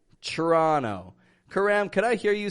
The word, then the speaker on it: Toronto: Toronto CH Toronto now Toronto is spelled t o r o n t o but I'm saying trra trono kamam could I hear